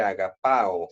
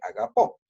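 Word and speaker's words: ἀγαπῶ: Generalmente esa regla me va a funcionar de que, por ejemplo, en agapao, vamos a ponerlo aquí, agapao, no se dice agapao en presente, sino se dice agapó.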